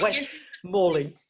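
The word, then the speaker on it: West Malling: West Morling.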